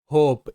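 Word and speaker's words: hope: তারপর ভাওয়েল ই আছে, তাই কিন্তু ও এর উচ্চারণটা ও। এইচ ও হো, এম তে ম হোম। পরবর্তী শব্দ হোপ, এইচ ও পি ই হোপ।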